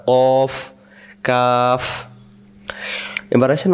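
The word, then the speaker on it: قاف: ঠোট মিললে যাবে না কফ কাফ এবার আসেন উচ্চারণ কব অক্ষরের মাখরাজ রয়েছে কব অক্ষর কেমন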